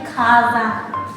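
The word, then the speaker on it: 火山: Maka dia dibacanya kanji apinya tuh ka, dan ininya tuh sa. Jadinya kaza.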